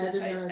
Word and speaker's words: Adonijah: So, Adonijah. Adonijah. That's Adonijah. Adonijah. That's how we pronounce it.